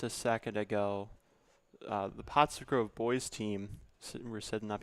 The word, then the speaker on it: Pottsgrove: Is it just me or like a little while ago did the announcer mispronounce potsgrove? I thought he just said potsgrav.